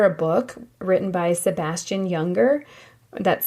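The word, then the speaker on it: Junger: book written by Sebastian younger that's spelled j u n g e r his book is called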